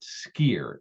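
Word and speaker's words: skyr: call it yogurt in Iceland they call it skier SK KYR skier is how it's pronounced Icelandic which skier is what I said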